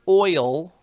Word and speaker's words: oil: Is the word oil one syllable or two? That's a great question. Oil is one syllable.